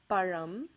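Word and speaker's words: பழம்: It's actually pronounced as Tamil. Okay, it ends with that Ra sound. Another word is Param.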